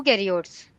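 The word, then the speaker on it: eukaryotes: इनको हम कहते हैं यू कैरियोट्स। यू, यू, E silent होता है, ठीक है, कैरियोट्स।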